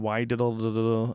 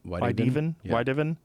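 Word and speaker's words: Wydeven: went in the wrong direction, according to Adrian Weidivel, animal. How do you say that name? Adrian Weidiven. Weidiven.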